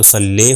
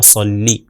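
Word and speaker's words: صلّی: اگر اردو تلفظ کر دیں تو صلی ہو جائے گا، عربی کے حساب سے عربی تلفظ کے حساب سے صحیح نہیں ہوگا، تو عربی میں ہو جائے گا صلی.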